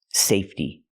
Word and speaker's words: safety: fence a safety fence the word is pronounced safety it comes from the word safe and in the word safe the E is silent so when I change it to the word safety the E stays silent and we use a real T sound safety safety link The Sounds safe T safety I can use the